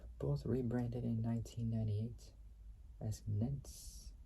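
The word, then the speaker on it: Netz: rebranded in 1998 as Nets. So Nets, can't really say well, but it's spelled N-E-T-Z or N-E-T-Z.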